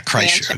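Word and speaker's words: Kreischer: had mentioned is it chrysler how do you pronounce that chrysler yeah chrysler okay now tell us a little bit about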